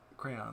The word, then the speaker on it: crayon: do you say it I say it crayon like with two syllables I'm okay okay with anyone if except if you say it is Crown because if you say it is Crown you're incorrect and I have heard